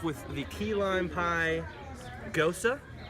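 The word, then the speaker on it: Gose: the key lime pie go sir for those who don't how to pronounce it it's G OSE it's nice its light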